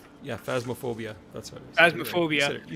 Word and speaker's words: Phasmophobia: Phasmophobia.